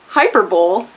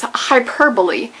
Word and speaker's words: hyperbole: be said that way the cousin of the Super Bowl is the hyperbowl no it's not it's hyperbole but that one's really